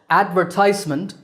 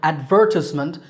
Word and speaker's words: advertisement: Or advertisement, stress on the third syllable, ties, and advertisement, stress on second syllable, ver.